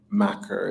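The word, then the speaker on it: Makar: Yeah, I think it's Macker. It's not like the word.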